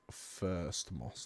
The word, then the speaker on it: First Moss: First as in First. Yes. Not as in thirsty. Not as in thirsty. Yeah, no, it's spelt First Moss.